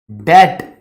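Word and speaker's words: debt: उदाहरण एक होती है डेट बी साइलेंट राहत है बीच में डेट क्रिएटिंग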